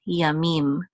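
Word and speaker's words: יָמִים: We have the yud here with a kamatz, which says ya, and then the mem with a hirik, which says me, and the mem sofit closes that syllable out to say mim, yamim. Yom is day, yamim is days, so 6 days.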